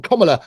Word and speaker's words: Kamala: And to anybody on Kamala, that's how you pronounce her name, Kamala Harris's party, come forward and confess if that's the truth.